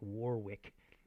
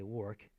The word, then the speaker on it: Warwick: these words together like it looks like warwick but they say work oh blau rhymes with